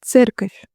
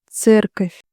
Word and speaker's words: церковь: Church, церковь, церковь. V at the end becomes softer because we have a soft sound at the end.